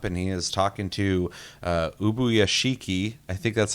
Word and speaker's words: Ubuyashiki: Muzan has shown up, and he is talking to Ubuyashiki. I think that's how you say his name, Ubuyashiki.